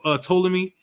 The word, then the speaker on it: Ptolemy: by the suggestion of Ptolemy. The P is silent. Oh. If you don't remember, we was talking about Ptolemy, and he Ptolemy the second or the third was the sister of Cleopatra.